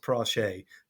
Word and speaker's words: Pratchett: It's actually pronounced Prache, but it is spelt as Pratchett.